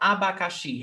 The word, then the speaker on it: abacaxi: If you don't know that abacaxi has 4 syllables, you cannot identify that, you cannot see that she is the stressed syllable and is the last syllable.